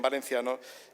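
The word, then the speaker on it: València: en castellano que en valenciano que en inglés que euskera su nombre es el que decide el municipio Valencia es con acento abierto vinaros es como se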